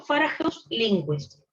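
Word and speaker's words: Fåhræus–Lindqvist: Esta que ven acá es una B corta, pero se pronuncia como una O. Así que, efecto Farageus-Lindquist.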